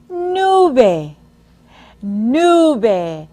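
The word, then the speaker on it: nube: Spanish for cloud is Nu listen as I pronounce it again nu nu now say it with me new now say it by yourselves Amigos most of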